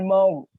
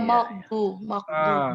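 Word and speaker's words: الْمَغْضُوبِ: Iya, makdu. Betul. Itu salah sebenarnya. Yang betul itu ghairil bukan makdu. Soalnya di situ uwen, bukan ekap.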